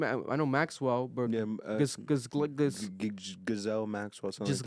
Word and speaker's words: Ghislaine: Also, how do you pronounce the name? I know Maxwell, but Yeah, Gazelle Maxwell, something just like that. Ghislaine, Ghislaine, yeah.